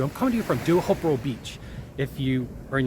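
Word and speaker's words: Teahupoʻo: I'm coming to you from Duhopro Beach. If you are in the United States and you spell it, it's spelled Teahapu, but it's pronounced a little bit different.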